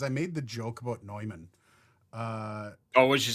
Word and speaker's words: Neumann: And that was and everybody's like, that's the actual way you're supposed to say it. That's the official pronunciation of Neumann.